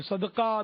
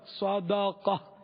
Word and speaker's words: صدقہ: معنی, اور ایک ہے دال پر زبر صدقہ اس کے معنی, دونوں فرق ہے. جب دال ساکن, جیسے ہمارے یہاں دال ساکن ہی بولتے, صدقہ بولتے ہیں. صدقہ یہ خیرات, صدقہ خیرات یہ غلط تلفظ ہے.